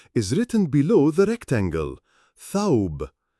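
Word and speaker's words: ثوب: Tha is the first letter in the word dress in Arabic, and the pronunciation of the word dress is written below the rectangle. Thawb, thawb, thawb.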